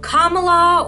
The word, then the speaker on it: Kamala: whatever he was saying he also pronounced Davey's cousin's name wrong I think he said something like Kamala or Kamala her name is kamala and he also managed